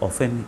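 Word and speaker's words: often: यहाँ बच्चों देखिए टी है, ये टी साइलेंट है यहाँ पे, इसका उच्चारण हम लोग नहीं करते हैं, इसको ऑफन बोला जाता है।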